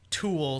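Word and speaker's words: Tuel: And it is Jeff Toole, spelled like fuel but with a T. Yeah. So like Toole, I don't even know.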